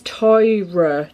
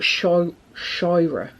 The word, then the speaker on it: Scheuer: Scheuer, but it's like, she says it's Toira, I think it is, but Shoira.